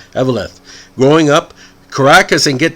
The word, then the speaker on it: Eveleth: I always have trouble with that pronunciation. Eveleth.